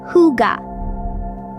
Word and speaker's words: hygge: And finally, embrace the Danish concept of hygge, pronounced hygge.